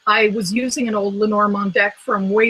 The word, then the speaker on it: Lenormand: So I know Lenormand is the right way to say it, but I'm lazy.